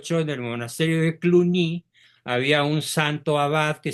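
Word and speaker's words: Cluny: de cluni en Francia escribe cluni con y se pronuncia cluni había un famoso abad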